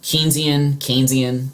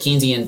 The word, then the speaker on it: Keynesian: So FDR is embracing Keynesian, depending how you say it, Keynesian deficit spending to prime the pump.